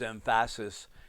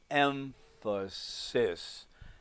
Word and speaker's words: emphasis: little bit more exaggerated when when Johnny says emphasis you go no its emphasis emphasis now we don't say that when we say the word emphasis but what we do we are accenting those syllables more just don't notice it so much because